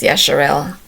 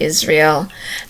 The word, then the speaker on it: Yasharel: days as Israel, but the correct pronunciation is Yasharel, not Israel.